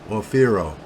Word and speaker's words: Aufero: How is that pronounced? Orfero.